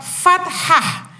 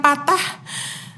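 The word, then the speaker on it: فتحة: ada huruf alif berharokat fathah fat Hah Jadi bukan patah kalau patah nanti bisa patah hati patah semangat dilakukan itu ya tapi fat Hah namanya ya cara membacanya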